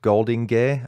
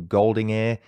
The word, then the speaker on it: Goldingay: I believe her surname is pronounced Goldingay as opposed to Goldingay, so that's how I'm going to say it going forward. I could be wrong, but I'm rolling with it.